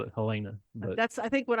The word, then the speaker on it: Helena: So it is pronounced Helena. If you are on the East Coast, they pronounce it Helena. But we're in the Midwest. We're in the Midwest. And I had already always called it Helena. Helena. I'd always said Helena. Helena, not Helena or Helen.